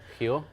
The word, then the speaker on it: Rio: Rio ins her heel as they call it heal he only yeah yeah are at the beginning of the word there is pronounced like an H interesting yeah everything's pronounced